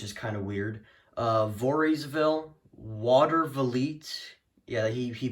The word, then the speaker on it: Voorheesville: have Del Mar rensselaerville Voorhees well for Paul pronounces it as for heesville instead of Voorheesville which is kind of weird uh Voorheesville Watervliet yeah he he pronounces it like that